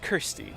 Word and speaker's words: Kirsty: been looking for you the name's Kirsty with a K uh Kirsty rhymes with thirsty if you know what